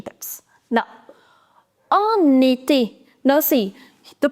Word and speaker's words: été: And the next word is été. Now, see, the pronunciation of this in French is e, e. Now, when you put this accent, it becomes A.